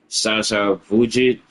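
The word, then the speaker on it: Sasha Vujačić: Shasha Vujich, that's how you say his name.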